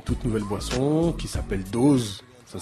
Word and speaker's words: DOZ: Voilà, une toute nouvelle boisson qui s'appelle Dose. Ça s'écrit D-O-Z pour pouvoir faire plein de jeux de mots.